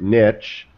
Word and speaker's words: niche: And can I just say, Kevin gets bonus points for the correct pronunciation of the word niche, unlike my Canadian friends. Niche. It's not spelled with a T.